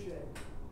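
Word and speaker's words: Ruscha: Well, I had a professor pronounce it Russia. It's Rusche.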